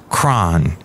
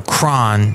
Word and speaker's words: KRON: And so Kron is taking the first syllable of that word, and putting a K instead of a CH.